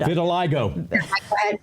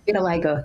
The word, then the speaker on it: vitiligo: All right, explain, how do you pronounce the skin ailment that he had? Vitiligo. Vitiligo, yes.